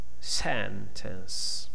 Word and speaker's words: sentence: Here we have a two-syllable word. Sentence. Okay, the first one is the stress.